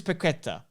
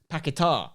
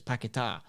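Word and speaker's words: Paquetá: too much but lucas piqueta apparently it's lucas pakita by the way that's how you say it because the accident's on the edge it's pakitar 51 mil record signing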